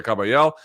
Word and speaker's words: Kabayel: Big Bang Zhang taking on, how do you pronounce this guy's name? Ajit Kabayel. Yeah, Kabayel.